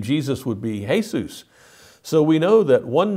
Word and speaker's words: Jesús: To a Hispanic person, the name Jesus would be Jesus. So we know that one name can be pronounced different ways, and that's why it makes perfect sense to see Shangdi as Shaddai.